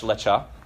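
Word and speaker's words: לך: This isn't pronounced Lecha. It's not like a cappuccino that you get at Starbucks or a drink you get at Starbucks, right?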